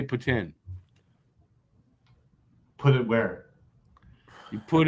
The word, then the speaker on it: poutine: is if you don't if you're not from Quebec and you don't know how to say it properly you say poutine if you're from Quebec where it was originated you say Puttin put it where you